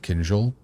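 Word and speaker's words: кинжал: Now that's a fucking cool-ass dagger that definitely doesn't have a naming convention tied at all to the Russian word for dagger, which is spelled Kinzel and pronounced Kinjal.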